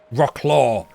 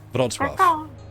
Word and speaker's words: Wrocław: Well, it's got an L with a line through it. So is that an L? No, I guess it's a W. And so you go on Google and like, how do you pronounce Rocklaw? And Google goes Wrocław. And it's like, I guess Wrocław.